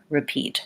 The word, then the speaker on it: repeat: phrase repeat after me it's actually an e sound repeat because this syllable is unstressed and this syllable is stressed so in that unstressed syllable I have to be short and use that last vowel so this is something